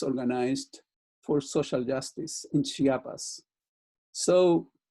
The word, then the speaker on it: Chiapas: acquainted with will be Chiapas. That's the way you say it in Spanish. Chiapas. There is no other way of saying it.